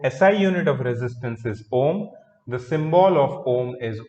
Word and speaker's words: ohm: O H M, ohm. Okay, it is pronounced.